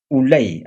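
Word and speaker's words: Ulai: al río que dice junto al río Ulay así se pronuncia no se escribe Y alcé los ojos y miré y aquí un carnero que estaba delante del río.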